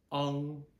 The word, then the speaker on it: ang: Okay, and for our last A syllable, what we have is ANG, which is the exact same thing as AN we just did. We're just using an NG ending. So instead of on, we have ong.